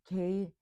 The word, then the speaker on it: Xeper: Xeper is an ancient Egyptian word that means I have come into being or to become. It's pronounced Kheffer, Xeper, and it's represented in Egyptian hieroglyphics as the scarab beetle.